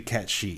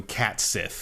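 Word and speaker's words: Cait Sith: Because technically it's supposed to be Cat Shi. Right. In Gaelic. But everyone I've ever met calls him Cat Sith.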